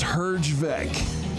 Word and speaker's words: Herjavec: It's pronounced Herjavec.